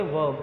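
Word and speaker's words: verb: इसमें आर को हम प्रोनाउंस में आर को हम साउंड नहीं करते, तो क्या हो जाएगा बच्चे, वर्ब।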